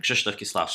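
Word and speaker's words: Krzysztof Kieślowski: Krzysztof Kieslowski.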